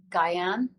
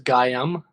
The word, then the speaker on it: Gaian: Gaian? Gaian. Gaian. I thought it was Gaiam or something. Oh, yeah, yeah, yeah. Gaian. Okay, that's cool that we're on the same page there. Good confirmation. Gaian.